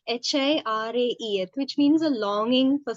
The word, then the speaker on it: Hiraeth: There's this Welsh word called hirai or hirai. I'm not sure how you pronounce it. It is Hiraeth, which means a longing